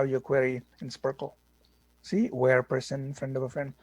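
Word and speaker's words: SPARQL: like sql okay so this is pronounced sparkle sparkling so sparkle is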